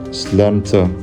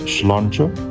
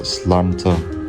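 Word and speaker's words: sláinte: Slanter. Isn't it schlancher? I thought it was pronounced schlancher. But then I listened again and the Irish guy, said it's pronounced slanter.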